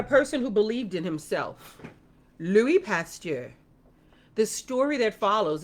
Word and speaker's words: Louis: medical doctor okay okay it's uh Louie l o u i s pronounce Louie pasture the value of